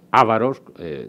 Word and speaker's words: ávaros: Bueno, luego, como también conocemos, vienen los bárbaros, en el caso de ellos los ávaros, con acento en la A, y o tilde que